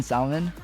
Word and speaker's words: salmon: He pronounces the L in salmon.